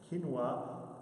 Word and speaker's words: quinoa: list quinoa which is the correct way to pronounce that quinoa is not on the list network it's kosher